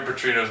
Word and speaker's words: Petrino: And Bobby Petrino's name rhymes with his.